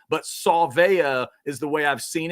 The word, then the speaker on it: Savea: Last name's pretty easy, Savea. It's spelled S-A-V-E-A, but Savea is the way I've seen it, and I kind of like the idea of putting the saw in there, Savea.